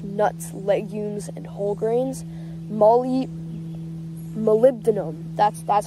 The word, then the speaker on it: Molybdenum: Molybdenum, that's how you pronounce it.